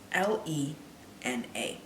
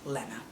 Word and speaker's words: Lena: me off the most her name is spelled l-e-n-a it's pronounced lena not lena it's lena and the only people